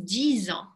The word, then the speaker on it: disent: Обратите внимание, здесь disent, не оглушайте. В конце у нас есть такая тенденция, bêtises, disent, немножко как S произносить. Все должно быть очень четко.